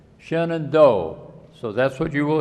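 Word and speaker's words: Shenandoah: The arranger for this song suggests that we read it with sing it with three syllables. Shenand do.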